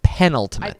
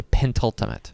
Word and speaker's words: penultimate: I think it's penultimate. Yeah, it's penultimate. There's no the Why do I want to say pentultimate?